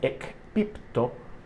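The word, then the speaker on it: ἐκπίπτω: Entonces, en el original griego, caído viene de un vocablo que se pronuncia ekpipto.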